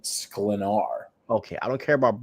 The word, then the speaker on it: Sklenar: I think it's Skelnar. Skelnar. Yeah, because you said it right earlier. All right, I don't care about Brandon. No, sorry, it's Brandon Sklenar.